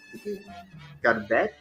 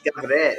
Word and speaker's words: גברת: Garbet? It's Gavret.